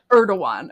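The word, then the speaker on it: Erdoğan: it again how do you say it Eran erdoan okay remember that so I don't embarrass myself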